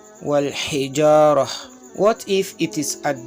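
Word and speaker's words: والحجارة: The round ta is pronounced as ha sometimes, if it is at the end of the sentence or if it is at the end of a word where you want to stop the recitation, then it will be pronounced as ha. For example, wal hijarah, wal hijarah.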